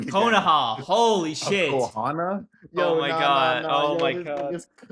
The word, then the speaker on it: Konoha: Just wear the on-air sign like it's a Kohana.